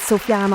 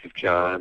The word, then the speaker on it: Sufjan: Well, they pronounce the J. So, sometimes they'll say it Sufjan or or I think they're just befuddled by the S and the J or or just the the foreignness of it, especially in the States.